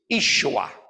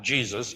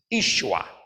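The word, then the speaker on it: Yeshua: and by the way the appropriate word and pronunciation from the Aramaic is isua not jesua not Jesus it's isua I knew you wanted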